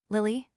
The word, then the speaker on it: lili: Lily, this word, accented on the final syllable, means to rush, to move with one fixed purpose in view. It is to be distinguished from lily, having the accent on the penult, and meaning to be angry, jealous, alienated.